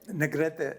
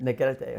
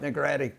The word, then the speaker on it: Negrete: So, how do you say how do you say it? Negrete. Negrete. Okay. I said it white. Negratti.